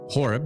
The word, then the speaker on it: Horob: I've got Nick Horob. Nick, am I saying your last name right? I'm terrible with names. So is Horob the right way to say it? You are. Hey, there we go.